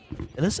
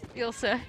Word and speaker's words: Ilse: I'm joined by my fellow commentator, Elise, am I saying it right? Elise? Ilse. Ilse.